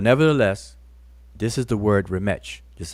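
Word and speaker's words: rmṯ: That TCH has a sound like a church, like the word church, the CH in church.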